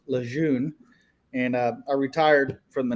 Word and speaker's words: Lejeune: And Beardyvlogger, to answer your question, I live in Jacksonville, North Carolina, about 6 miles from Camp Lejeune, if you're French. I pronounce it as Lejeune.